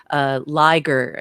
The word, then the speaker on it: Liger: So Liger, yeah, you are pronouncing it correctly.